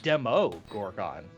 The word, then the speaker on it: Demogorgon: Oh, actually, no, it's Demo Gorgon. It's not Demi. It's not Demi. It's Demo.